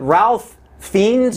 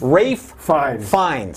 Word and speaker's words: Ralph Fiennes: Is it Ralph Fiennes? No, it's Rafe Fiennes.